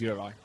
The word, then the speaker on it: Juraj: Huddy himself, Uri. As we discussed in our hire car yesterday on the way home from dinner, I have been calling Duraj for many, many years. But actually, his name is Uri.